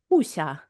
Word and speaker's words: Wuxia: Before I ask this question, how do we pronounce this? Wuxia? Wuxia? When you're talking about the genre? Wuxia.